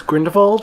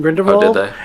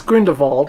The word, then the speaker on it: Grindelwald: to be really clear his name was Green default and not going to Wald I don't care the German the fact that some people that will be add to pronounced on-screen grinned Imelda it was like nails on chalkboard like no it is grin default and I don't care